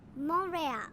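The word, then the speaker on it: Montréal: In French, they pronounce it Montreal, and I'm not so sure we're gonna get there today.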